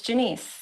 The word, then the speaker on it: Janice: I know that there's something about the pronunciation. You got it. It's Janice.